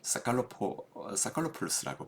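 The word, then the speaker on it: Psacharopoulos: 여기에 지금 외부 효과의 경험적 증거, 그래서 사칼로폴로스라고 발음합니다.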